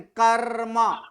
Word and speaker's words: कर्म: लेकिन इसका उच्चारण क्या करेंगे, कर्म। तो इसमें क्या, कर्म, तो इसका उच्चारण क्या कर रहे हैं, आधा र कर रहे